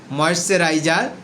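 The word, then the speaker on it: moisturizer: মানে হচ্ছে আমি আমার ত্বককে নরম করার জন্য ময়েশ্চারাইজার ব্যবহার করে থাকি। হ্যাঁ, এই ময়েশ্চারাইজারের সঠিক প্রোনাউন্সিয়েশন হচ্ছে ময়েশ্চারাইজা।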